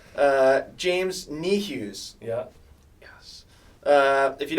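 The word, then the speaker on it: Niehues: our audience knows how bad i am at pronouncing names uh james knee hughes yeah yes uh if you don't know james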